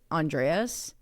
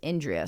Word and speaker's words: Endres: It's spelled, her last name is spelled Endres. And so like naturally I'd be like Andreas. But the way that they pronounced it on like every interview I saw was Endres.